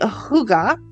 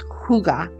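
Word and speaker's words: hygge: bring to your attention first of all the Huga I don't know if I'm saying that right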